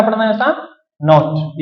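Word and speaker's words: naught: सही है, एम्पलीट्यूड खे असां शो कराईंदा आहियूं ए सां या वरी एक्स नॉट सां। हिनखे छा पढ़ंदा आहियूं असां? नॉट।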